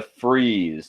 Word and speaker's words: frieze: So the frieze, and notice how this frieze is spelled. It's not freeze like I'm cold. It's freeze like a freeze on a pediment.